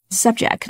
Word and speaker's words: subject: adjective and a verb notice the stress shifts between the first and second syllable in terms of the part speech subject and the subject right be subject to is